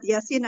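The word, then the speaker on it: يس: huruf-huruf jadi baca ringan kalau di Yasin itu bacanya ringan Yasin disitu dia Sin itu ada huruf-huruf mukhafa'ah yaitu huruf-huruf yang dipakai pada awal kalimat dibacanya secara ejaan tidak ada idgham tidak ada bacaan Idgham jadi ya dan harokat dan disin di Yasin di situ 6 harokat baca secara ejaan huruf-hurufnya dan dia itu ada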